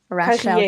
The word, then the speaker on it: Rachelle: And Rachel, I'm hoping that I'm pronouncing your name right, and if not, please correct me, Rachel. Um, Rachelle. You see, Yes. Rachelle.